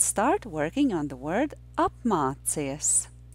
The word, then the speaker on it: apmācies: Apmācies is a three-syllable word. Usually I start teaching three-syllable words from their last syllable. So the last syllable of this word is cies, and there are two difficult sounds in this syllable.